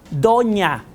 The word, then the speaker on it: doña: De tal manera que gráficamente lo que estamos diciendo es donna, o nosotros al ponerle la rayita ya lo pronunciamos como ñ y decimos doña.